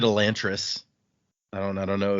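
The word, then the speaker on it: Elantris: So technically, once again, while we always say this one wrong, we call it Elantress. The way this language works, the technical pronunciation be elantress. Yeah, we didn't say that. No, we sure didn't because that sounds ridiculous.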